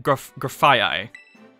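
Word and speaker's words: Grafaiai: oh yeah okay I've seen this graphite graphia that's what that's what it's pronounced still poisoned normal graphia the toxic monkey Pokemon oh I I like uh graphia like the you you know II right you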